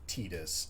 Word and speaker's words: Tidus: So, officially it's pronounced Titus. I refuse to call it Titus. I pronounce it Titus.